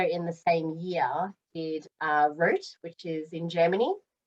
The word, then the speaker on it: Roth: And then I also, in the same year, did Roth, which is in Germany. People call it Roth, but it's Rot it's pronounced differently in German.